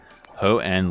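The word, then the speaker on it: Hoenn: Instant charge I think it's pronounced hoen like an like hoen like en in engine hoen okay thank you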